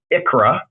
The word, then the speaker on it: ICHRA: throughout the webinar today pronounce it as Achra all right it's not me coughing it's me just saying the acronym for individual coverage HRA and then the sixth